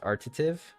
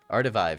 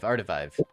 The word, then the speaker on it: Artivive: I'm definitely going to check out, art, was it pronounced Artative? Revive, I think. Huh? Artivive. Artivive. Yes.